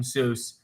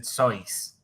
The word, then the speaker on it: Seuss: Miss Andy said, have you ever heard, you're wrong as the deuce, and you shouldn't rejoice if you're calling him Seuss. He pronounces it Seuss.